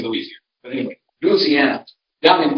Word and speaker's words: Louisiana: are from Louisiana now that's how they say it in Louisiana they don't say louisi it's Louisiana at least down where my folks are from if you go up in Northern lisiana they do say Louisiana but anyway Louisiana